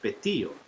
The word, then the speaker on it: Pitillo: Pitillo, it's funny that you spell it like that, Izzy, because Pitillo is actually Petillo.